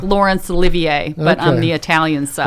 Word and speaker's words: Olivieri: And Steve, I'll just correct you on the pronunciation of my last name there. Uh oh. Well. No. Okay. What is it? Giving you a bad time, Steve. No, that's fine. It's Olivier.